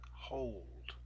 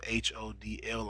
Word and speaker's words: HODL: Okay, Texan Hold on Twitter. And hold is spelled HODL. I hate when you guys say hodl. It's hold.